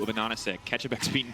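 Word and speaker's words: AHaHaCiK: name is spelled A-H-A-H-A Anonisic, yeah, it's because the capital H's are meant to be N's, which is Anonisic, which is pineapple in German.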